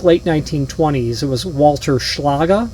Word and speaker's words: Schlage: 19 I think late 1920s it was Walter schlaga schlaga is how it's pronounced known as the lock wizard I think